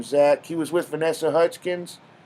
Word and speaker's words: Zach: zach it was z-a-c-k now everyone's z-a-c-h that's zach does no one know how to spell does no one know how to pronounce words anymore that's pronounced zach no offense that jeff